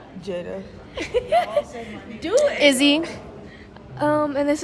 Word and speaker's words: Jaidah: Jaidah.